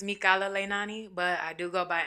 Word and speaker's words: Mikala Leinani: the people know your name girl well it's mikala leinani but i do go by because a lot of people can't pronounce that say it one more time yeah